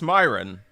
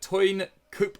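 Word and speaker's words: Teun Koopmeiners: so I did practice Myron no it's not it's tine coop - my Dutch pronunciation is awful but he's a 22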